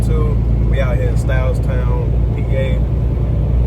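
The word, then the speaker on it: Stahlstown: We out here in Styles Town, PA. It's kind of a weird a weird way to spell it. It's basically spelled S T A H L S T O W N. So Styles Town P A.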